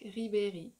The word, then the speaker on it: Ribéry: You see how the when I pronounce the I and the E, my mouth like stays in the same shape, kind of? Ribéry. Ribéry. I'm like smiling the whole way.